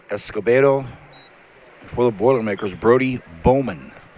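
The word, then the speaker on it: Baumann: For the Boilermakers, Brody Bowman. Spelled B-A-U-M-A-N-N, pronounced Bowman. Guillermo letting the pressure up just a little bit, allowing Bowman to be able to come up to his feet.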